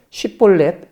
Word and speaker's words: 쉽볼렛: 장악했습니다 건너려고 하는 이에게 쉽볼렛 발음을 시켜 10볼넷이라고 잘못 발음하면 잡아 죽였습니다 그때 죽은 에브라임 사람